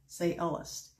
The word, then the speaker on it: sciolist: Yes, it is pronounced like that, sciolist.